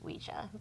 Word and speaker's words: Ouija: The correct pronunciation is Ouija.